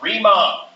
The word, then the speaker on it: Riemann: This is called, notice it's called Riemann. That's how you pronounce that, Riemann.